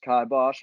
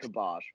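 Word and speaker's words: kibosh: last week's word of the day is actually pronounced kybosh i was right oh really dude when you look at it looks like kibash but like they pronounce it real slow unless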